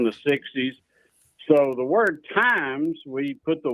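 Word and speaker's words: Tymes: Yeah, we get asked that a lot, and it gets mispronounced from Twine Times to whatever.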